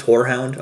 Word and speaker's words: horehound: Is it actually pronounced whorehound? I'm curious now. Hold on. Hold on. Oh. Yeah, I know it. I think it is. Whorehound. Yeah, no, it is. Yes.